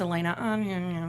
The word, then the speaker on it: Alana: It's ALANAJORDAN spelled like Alana. It's Elena.